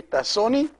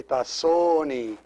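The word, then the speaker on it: ⲧⲁⲥⲱⲛⲓ: sister it is and notice that you don't say because there's another word called sunni with a short o and the i at the end and sunni means a thief so if you say tassoni it's my thief not my sister so you have to make sure you say tasoni all right so my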